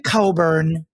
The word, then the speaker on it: Cockburn: very connected for sure Olivia Coburn pronounced on this broadcast as cockburn what is Olivia cockburn's